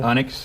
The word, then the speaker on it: Onyx: Onyx, yes.